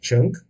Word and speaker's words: Cheng: Well, the NG at the back is pronounced as ng, which is quite familiar to people here in Singapore. So you just have to add a C sound in front, so chink.